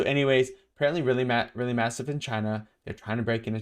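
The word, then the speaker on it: qi: 1,000 years dragons, I think it's pronounced chi. Ki is chi.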